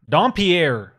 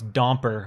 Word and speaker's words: Dompier: By the way, while you're telling the story, it's Dompier, or as a lot of my teachers growing up would pronounce Domper, which always is like, come on. Domper. I had like 4 or 5 different teachers growing up who pronounced my last name Domper.